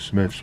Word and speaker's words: Smyth: named after him robert robert smythe or robert smith's whatever you want to say we called it robert smith that's the way we pronounced it and this uh this